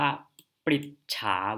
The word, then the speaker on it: ปฤจฉา: ถาม นะ ครับ หรือ อ่าน ว่า ปิด ช้า วิเศษ ติด ติด ฉา วิเศษ นะ ครับ คำ วิเศษณ์ แสดง